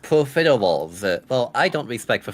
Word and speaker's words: profiteroles: It's pronounced profiteroles.